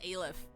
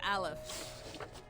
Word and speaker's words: Alf: I keep pronouncing it as AIF. It's Alf.